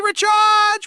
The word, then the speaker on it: recharge: It should be recharge with stress on the second syllable.